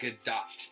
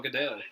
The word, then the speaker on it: Gadot: a lot yeah like her wonder woman's name is gal gadot like you pronounce the T but I always just thought you didn't announce the TV sound oh yeah so I was calling her gal gadot always I can never pronounce